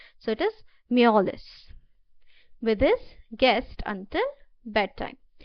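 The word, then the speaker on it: mjolis: Okay, the J is silent. So it is molless with his guest until bedtime.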